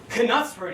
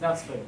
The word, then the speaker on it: Knutsford: Knutsford each night, does it? It's pronounced Knutsford, Bill. The K is silent.